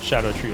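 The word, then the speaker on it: Scadutree: it SC means Shadow it's pronounced Shadow like jail gaol we learned that on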